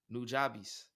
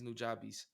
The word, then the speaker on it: Nujabes: a legend a legend nujabes punjabis his name's nujabes i sp i believe it's spelled n-u-j-a-b-e-s got it he's a in the anime